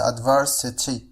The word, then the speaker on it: adversity: adversity، فهنا لاحظوا كيفية نطق هذه الكلمة، قلت adversity وليس adversity، فهنا T سوف تصبح D. هذا ما يسمى في اللغة الإنجليزية بالفلاب T. فالفلاب T بمعنى إذا جاءت T بين two vowels فهي تنطق على الشكل D.